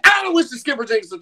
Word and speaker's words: Aloysius Skipper Jenkins III: The correct pronunciation is Aloysius Skipper Jenkins III.